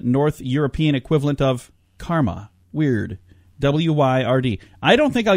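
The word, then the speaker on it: wyrd: And it's pronounced weird or word.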